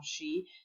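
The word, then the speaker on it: je: remember the brand Gmail she so it's not like in English - as in John it's just like in sure which means I then e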